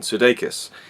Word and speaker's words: Sudeikis: is predictability and the lead actor being Jason Sudeikis that's how you pronounce his name I've never liked him I